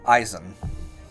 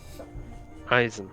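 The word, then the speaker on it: Issam: whenever he pronounced himself he is king eisen eisen okay spell if y'all need it spelled it is i-s-s-a-m i swear you've just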